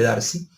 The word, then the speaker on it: Darcy: la ley de Darcy, realmente es Darcy que se pronuncia, el francés, pero luego del planteamiento